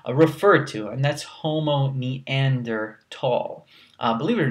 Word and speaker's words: Neanderthal: This is actually a German word. There's a region called Neanderthal in Germany. So it's actually Homo Neanderthal, but you'll be probably looked at kind of weirdly if you say it like that. But it's important to recognize that that's actually how you say it.